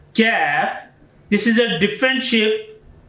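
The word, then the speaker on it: كاف: Qaf and Kaf. Both are sounds is similar but different is this accents. Qaf, when is coming with two dots, this is a bold sound and heavy sound of this Qaf.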